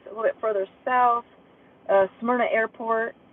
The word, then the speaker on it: Smyrna: Smyrna Airport, which somebody please tell Max Velocity that it's pronounced Smyrna.